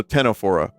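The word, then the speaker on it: Ctenophora: Um, senophora or tennophora. C t o p h o r a. So tennophora. So they don't look like your typical jellyfish.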